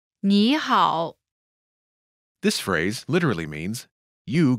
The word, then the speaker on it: 你好: Pronunciation note: when there are two third tones in a row, the first one changes to the second tone.